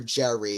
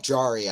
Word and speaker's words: Jarry: for him for sure is it more like jari or Jerry it should be more like jari I was looking into uh the pronunciation before just to make sure I got it right it should be more like jari a little bit of the Rolling of the tongues on the R's but I just can't